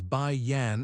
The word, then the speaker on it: Bai Yan: White Salt is pronounced as Bai Yan in Chinese.